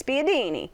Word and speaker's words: spiedini: It's like You gotta say it like this, spiedini.